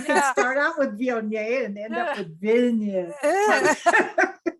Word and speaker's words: Viognier: Viognier. I say it Viognier. I don't know. People say Vignette, Viognier. It depends on how many syllables you want to put on the word.